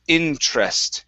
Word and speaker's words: interest: and interest now here we don't want to pronounce that e saying interest it's interest interest interest good good